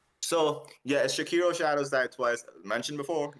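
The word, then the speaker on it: Sekiro: talking about bloodborne so it's pronunciation I believe is shakiro Shadows died twice it's not sakuro most people say sakuro but I think it's it's a Japanese game so it's got to be shakiro in my opinions like they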